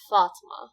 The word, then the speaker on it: Fatima: So first off, it's pronounced Fatima. It's not Fatima or Fatima. Those are ways of saying it. That's not how I say it. Fat, like thought, and then ma, like duh, Fatima.